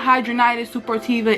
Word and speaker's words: Hidradenitis Suppurativa: this video so if you don't know what hydronitis super tiva is that is the way it is pronounced and it's also known as hs it